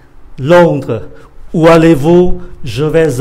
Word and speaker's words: Londres: Londres, où allez-vous?